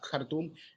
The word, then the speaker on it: Khartoum: Because from Khartoum. Once they get through, yes, from Khartoum, or as they pronounce in Arabic, Khartoum, once they arrive at the border, they will